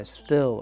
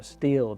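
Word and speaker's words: Stihl: Now this one is made by Still or Steel, depending on how you like to pronounce it.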